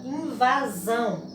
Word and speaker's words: invasão: será oxítona a invasão a palavra invasão tivemos aqui última sílaba vão forte né sílaba tônica então essa